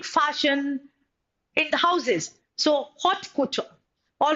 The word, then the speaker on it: haute couture: All right, it's hot couture or haute couture. All right, couture. It's haute couture. All right, अब देखिए बच्चा, expensive fashionable clothes produced by leading fashion in the houses. So haute couture.